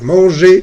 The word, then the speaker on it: manger: Manger, manger, ¿listo? La R no se pronuncia al final. No van a decir manger, o trouver, o parler. Es manger, trouver, parler, exprimer.